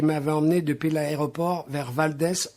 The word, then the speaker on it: Valdez: amené depuis l'aéroport vers valdez en alaska prononcer vadis afin que la dernière syllabe remake d'isis par les gens du coin gens qu'ils